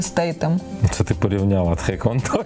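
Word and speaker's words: Statham: Це як стетхем, знаєш, все казали стетхем, а він насправді стейтем.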